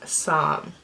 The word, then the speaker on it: Psalm: that we really liked is Sam and that is spelled p-s-a-l-m and yes that is